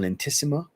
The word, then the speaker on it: Aulentissima: talking about from lentissma on entissima is how you say the name of the brand I don't know if